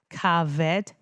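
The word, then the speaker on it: kaved: So that's pronounced caved harve I've tried.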